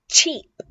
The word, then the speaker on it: cheap: Okay, be careful with the ch sound. Barato. Cheap. Cheap. So notice how my teeth, cheap, they touch, right?